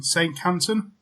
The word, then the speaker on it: Saincantin: before we start can i just get the pronunciation properly of your surname saint canton psychopath here we go but no your